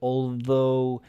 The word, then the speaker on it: although: three which is silent although is like spoken it's like mother brother although that needs practice